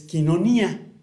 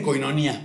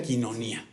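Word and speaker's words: κοινωνία: Y aquí la palabra comunión es quinonía, que le dicen coinonía, pero se pronuncia quinonía, que significa participación compartida, compañerismo íntimo.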